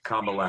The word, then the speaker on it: Kamala: have trouble with pronouncing Kamala Harris's name, but the mnemonic is comma. That is a piece of punctuation. I happen to enjoy doing punctuation. And then the la, Kamala, not Kamala or whatever else.